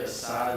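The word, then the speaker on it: açaí: in August 2022, the plaintiffs said that they ordered a strawberry acai eliminating repression, respectively.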